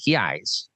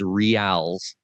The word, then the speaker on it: reais: Bill would like to know, can he pay in reais? Can he pay in what? In reais. It's the proper way of saying what you would pronounce as reals.